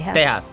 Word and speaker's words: Tejas: Oh, there is No, I'm going by the Mexican pronunciation. Tejas.